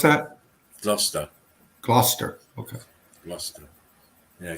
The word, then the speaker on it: Gloucester: glockkister abbey yeah glock yes how do you pronounce that zluster cluster okay gloucester yeah gloucester abbey i'll have a look i'm always looking